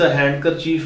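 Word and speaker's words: handkerchief: D slate होता है इस हैंड करर चीफ में डी साइलेंट होता है और इसी तरह एडजेक्टिव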